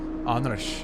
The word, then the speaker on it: Anders: Does he say Anders or Anders? It is quite Swedish, yes. Andersh would be the the the correct way to say it.